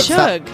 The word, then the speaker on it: Suge: that's pronounced. He's looking at me. Shug.